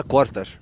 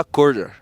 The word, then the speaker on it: quarter: الناس بتقولها كوارتر. بس النطق الصح بتاعها كوردر.